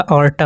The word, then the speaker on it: aorta: हैं AORTA, ठीक है, एओर्टा। ओके, स्पेलिंग भी इसमें गलत दी गई है, अरोटा दिया गया है, अरोटा नहीं होता, ऑर्टा होता है, ठीक है।